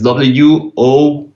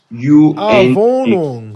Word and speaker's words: Wohnung: Like, Spell it. is WOHNUNG. Wohnung.